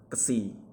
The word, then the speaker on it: ksi: Selanjutnya adalah huruf ksi. Huruf ksi ini dilatihkan sebagai X dan cara bacanya KS gitu ya, seperti huruf X.